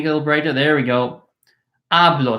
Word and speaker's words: hablo: talk or I speak yo hablo yo hablo HSN silent HS in Spanish are silent so this H is not pronounced it is not your